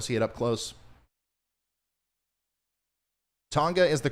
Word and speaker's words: Tonga: you guys want to see it up close tonga is the correct pronunciation woo i got it right um great